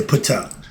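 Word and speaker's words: Ptah: their perspective which is pa the self-created one it's pronounc it's spelled p t a h some people say pa the p is silent like the d is silent like the k is silent certain letters in the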